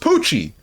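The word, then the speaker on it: Pucci: Then how come Poochie is pronounced Poochie? It's just P-U-C-C-I. This one has an H.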